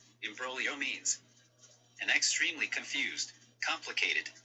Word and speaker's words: imbroglio: down i've learned that in italian they got silent g's girl i'm like a silent g what hey siri define embrolio let's see if i pronounced it right imbroglio means an extremely confused